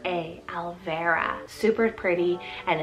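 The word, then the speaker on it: Alvera: vera spelt a l v e r a alvara super pretty and it's spanish rooted meaning elf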